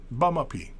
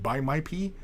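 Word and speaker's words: baamaapii: some Ojibwe, yeah, just bamapi. See you later. That's all that means. Bamapi. It's not, and if you say it like, you know, if you mispronounce it, it sounds like buy my pee, which, you know, I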